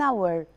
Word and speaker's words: hour: an important note that the letter h sometimes can be silent we don't pronounce it so here we say an honest man an honorable person an hour in these three words